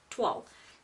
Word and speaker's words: toile: um we're going to TW is spelled t o i l e and it's pronounced like wall but TW okay and it's a French word and it's this tone